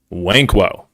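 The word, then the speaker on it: Nwankwo: yes yes yes yes Chidi wanko first end is silent I learned that thank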